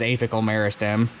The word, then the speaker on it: apical meristem: that point the growing point which is called the apical meristem or apical meristem depending on how you pronounce it i've heard it both ways um the correct term is apical meristem but uh up until